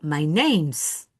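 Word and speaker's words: name's: Entonces, my name is o my names, pero tienen que pronunciarla la s solita o con la i. Las dos están correctas.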